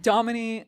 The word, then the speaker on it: Damini: Domini, like Dominique without the eek.